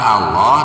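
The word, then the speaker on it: الله: Nah, lafaz Allah di sini harus dibaca tarkik atau harus dibaca tipis karena didahului oleh harokat kasroh.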